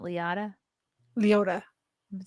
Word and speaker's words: Liotta: Ray Liotta than Joe Pesci.